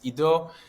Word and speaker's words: Edo: Edo it's very strange it's Edo with an e and in Hebrew you write Edo with an i you pronounce it Ido so it was very